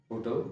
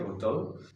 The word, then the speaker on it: hotel: Hotel, hotel, hotel. This is not hotel. This is hotel, hotel, hotel, hotel, hotel.